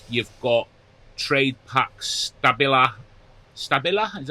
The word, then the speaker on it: Stabila: Stabila is how you pronounce it.